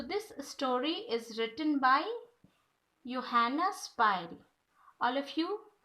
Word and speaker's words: Johanna Spyri: So this story is written by Johanna Spyri. All of you pronounce with me Johanna Spyri. Joha double again say Johanna Spyri.